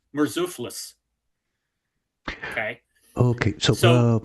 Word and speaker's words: Murzuphlis: Okay, so there's Alexius III, Alexius IV, Isaac, and a guy whose name is very difficult to pronounce, but it's Murzuphlis.